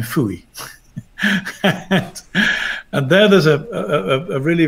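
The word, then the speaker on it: Fowey: but anyway there's a fishing village called pho e pronounced in American Phooey and there there's a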